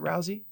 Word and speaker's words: Rousey: Does she pronounce it Rousey?